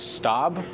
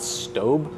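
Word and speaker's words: Staub: oven my go-to is stab I also realized I was pronouncing this wrong forever it's called stob um but yeah they're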